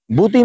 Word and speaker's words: BOTIM: আমি এটাকে বুতিম বলি, অনেকে বাতম বলে, একজন এক একটা উচ্চারণ বলে, যাই হোক উচ্চারণ ডাজ নট ম্যাটার, দরকার হলো আপনার এটা পাওয়া।